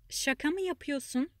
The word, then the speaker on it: Şaka mı yapıyorsun: Do not pronounce that R letter there to sound more natural. Şaka mı yapıyorsun?